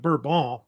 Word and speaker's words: Bourbon: And he was a descendant of this duke named the Duke of Bourbon, which they actually pronounce it Bourbon, so they say in France.